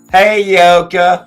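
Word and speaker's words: Heyoka: It's H-E-Y. Yeah, it's one of those complicated ones. I wasn't even going to try to spell it without looking it up. Hey, Yoka. Hi, Yoka. Sounds like she's saying, hey, y'all, from like Georgia. Hey, Yoka. Hi, Yoka. It's like, hey, you okay?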